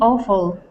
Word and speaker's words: awful: awful it would be awful okay so instead of saying W instead of saying W and and putting in the L there the L in that wood in that word is silent so instead of saying